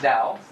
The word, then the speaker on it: Tao: It's pronounced Tao, which means the way.